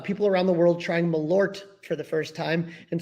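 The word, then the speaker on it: Malört: Everyone remembers that I don't pronounce the T in Malor. Malor, Malor, LOL. Yeah, it should be like Malurt. Yeah, because it's got that double O, and I think it makes more of a Yeah.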